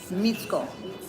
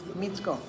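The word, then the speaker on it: Micko: That C is pronounced as a tsa. Mitsko. Mitsko.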